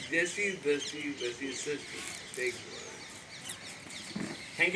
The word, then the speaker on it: Jaisi Drasti Veisi Srasti: Sinaji, is going to speak next episode of Jesse Sasti Vesi Dusty. Or, I must say it correctly, Jesse Dusty Vesi Sasti. This is the right way to say Jesse Dusty Vesi Sasti.